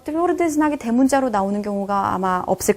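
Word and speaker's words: твёрдый знак: Tvrdiznak. 얘가 바로 그 기호 중에 하나입니다. 이 자체로는 발음이 없어요.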